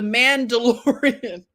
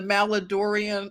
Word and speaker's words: Mandalorian: How does it's pronounced the Mandalorian. I said the Maladorian.